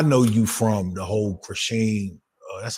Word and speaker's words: Chrisean: I know you from the whole Krishan. That's how you pronounce her name, Krishan.